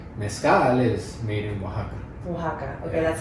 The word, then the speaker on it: Oaxaca: stuff the authentic Mezcal is made in Oaxaca Oaxaca okay that's how you say it yeah sorry